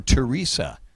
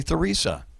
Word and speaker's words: Theresa: Or Teresa? The H is silent. Sometimes people say Theresa. Some people say Teresa.